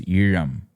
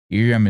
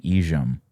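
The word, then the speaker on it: ஈழம்: So it's Iram. Iram is how you say it. That L is sometimes written as ZH, but I don't want people going around saying Ijam. This is not how you say that either.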